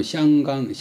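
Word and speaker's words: 香港: 향강은 이제 홍콩인데 원래 중국말로는 샹강 하는데 그 강동 발음으로 향자가 홍이고 항자 발음이 콩이고 그래서 홍콩. 강동 발음하고 중국 발음은 거의 그런 못 하더라고요.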